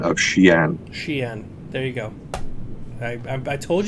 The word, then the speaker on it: Xi'an: Pasta, for the clarification on the pronunciation of Xi'an. Xi'an.